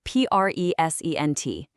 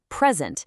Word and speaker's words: present: Stress that first syllable, present, and you've got a gift. But shift that stress over to the second syllable, present, and now it's a verb, meaning to give something.